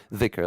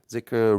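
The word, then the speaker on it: ذكر: have it here so the closest is like th or z so sometimes you see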